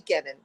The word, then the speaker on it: Kenon: But people pronounce it canon and it really phonetically should be Kennon.